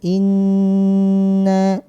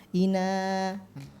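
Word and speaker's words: إِنَّا: nah ini jangan lupa jadi ditahan dulu in in Inna gitu ya jadi jangan bamblas jangan Ina itu masih belum terus kemudian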